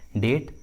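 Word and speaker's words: debt: देखिए English word में बी का आवाज़ नहीं आ रहा है, डेट, सेटल, सेटलनेस।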